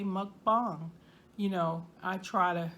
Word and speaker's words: mukbang: Sometimes I might say mukbang. You know, I try to say it at least halfway right. I get the muck part right because it rhymes with puck, you know, like hockey puck.